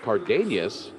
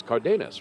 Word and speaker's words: Cardenas: There's no accent mark over the end, so it's not Cardenas, it's Cardenas, right?